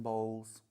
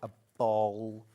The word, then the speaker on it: bolls: Cotton bolls. B-O-L-L-S. I think that's how you say it, a ball.